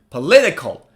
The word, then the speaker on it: political: say it louder politics now look at this one four syllables where's the stress stress is on the second syllable so the second syllable should be read louder than the others okay so you should say repeat with me now say it faster political political political you